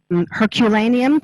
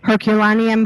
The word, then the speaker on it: Herculaneum: Herculaneum for English speakers, is it Herculaneum as opposed to? Excuse us. Technology-wise, there we go. Herculaneum for English.